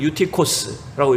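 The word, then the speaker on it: Εὔτυχος: 이 유두고, 원어로 읽으면 유티코스라고 읽을 수 있는데, 여러분 이 유두고라고 하는 이름은요, 뜻이 운이 좋은, 행운의, 행복한 사람, 이런 뜻을 담고 있어요.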